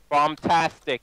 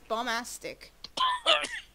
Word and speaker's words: bombastic: llama oh there dick bombtastic I mean bombastic get it right you said it right happy now princess learn how to English you said bombastic everyone's calling it bombtastic but it's bombastic I swear to God